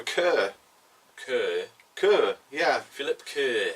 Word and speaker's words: Kerr: So you pronounce it Kerr, do you? I would go for Kerr.